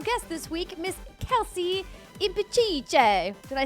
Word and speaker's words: Impicciche: It's Impicciche. Impicciche. Impicciche. Like impeach, kike.